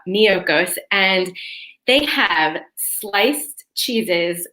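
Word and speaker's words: Miyoko's: there's this company called miyokos so that's spelled m as in mary i y o k o so almost like mykonos but miyokos and they have sliced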